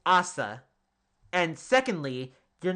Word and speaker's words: Asa: And it's pronounced Assa, not Asa.